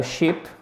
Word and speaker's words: ship: du son parce que ici on a a ship qui a un navire c'est un i cour